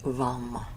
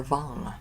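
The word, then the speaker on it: वं: sound, its bija mantra, which is vam or vang.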